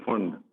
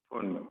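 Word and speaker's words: Pfund: Paschen, ये है bracket, ये है फुंड, ये साइलेंट होता है फुंड, और लास्ट में हो गई हमफ्री, हमफ्री, ठीक।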